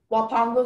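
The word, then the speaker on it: huapango: Wapango is the only pronunciation.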